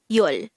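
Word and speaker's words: 열: its native korean version is yul this is just composed of one syllable which is pronounce it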